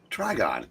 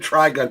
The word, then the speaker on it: Trigon: Trigon. You say you pronounce You said Triun. Triun is a anime character, manga character.